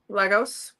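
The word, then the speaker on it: Lagos: It's born for Le Stalia and how do you say his name? L A G OS. Legos. Legos.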